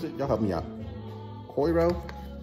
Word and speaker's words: Coiro: Coiro. It's backwards. It's C-O-I-R-O.